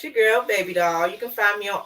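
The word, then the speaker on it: Baebe Dahl: It's your girl, Baby Doll. You can find me on all social media platforms at Baby Doll. That's spelled BAEBE_DAHL.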